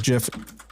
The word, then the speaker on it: GIF: animated gif and yes that is the correct way to pronounce it animated jif fight me um of